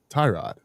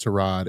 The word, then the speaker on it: Tyrod: It's not Tyrod. He was like, "Hey, um, you know, Trod is such a good dude." And everybody was like, "Trod." He was like, "Yeah, it's actually pronounced Trod and he just lets people say it however